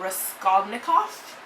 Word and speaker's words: Raskolnikov: I'm probably not gonna name his name properly, like pronounce it properly, so sorry about that, but Raskolnikov, I believe is how you say it.